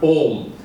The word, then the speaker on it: om: break and then you you pronounce the word om the first part o is with the mouth and the who is from the mouth and ma is is uh with your lips close so what happens is